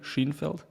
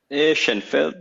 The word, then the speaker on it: Sheinfeld: I pronouncing that correctly shenfeld shenfeld it's like to American I say it's like Seinfeld with an H right because you are